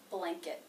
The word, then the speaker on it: blanket: And finally, the schwa T sound in the unstressed syllable, blanket, blanket. Notice I'm not releasing the T at the end of blanket. Again, I'm making it a stop T.